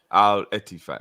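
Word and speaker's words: Al-Ettifaq: Sultan says the team that wants Fab is pronounced the same as Man City Stadium and Gerrard is El Etifak. If you're confused with the name, Al Etifak.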